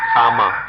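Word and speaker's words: kamma: But if we understand karma is the Sanskrit pronunciation, kama, the Pali pronunciation.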